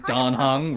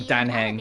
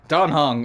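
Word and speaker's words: Dan Heng: I'm also learning that I've been pronouncing Danhung wrong this whole time. I've been calling him Danheng.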